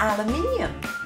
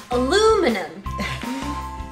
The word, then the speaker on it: aluminium: Aluminium. Aluminium. There's an extra I, isn't there?